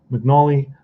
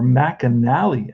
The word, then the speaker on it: McAnally: McNally versus, or McAnally, actually. Ernie McAnally. That sounds like a better pronunciation.